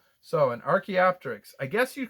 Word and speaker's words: archaeopteryx: another big word um i'm so glad this pronunciation guide is here so this is an archaeopteryx archaeopteryx so an archaeopteryx i guess you'd call him a dinosaur bird